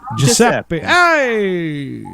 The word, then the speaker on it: Giuseppe: Giuseppe. Hey, Giuseppe. Your shirt, you got a sweater. Hey now, our guy, how are you, buddy? Is that you sitting there, our guy? Are you Giuseppe?